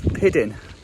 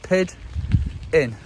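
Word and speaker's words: pidyn: Now that is piddin. That's pretty easy. 2 syllables. Pid in.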